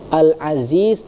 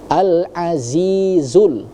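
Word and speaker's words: العزيز: ha yang tebal ya, al-aziz. Nah, di situ huruf zanya itu jangan lari ke huruf dza ya karena ada dua, ada dza yang kecil, ada za yang lebih tebal ya. Alazizul ya. Perbedaan huruf dza dengan za itu sangat berbeda ya.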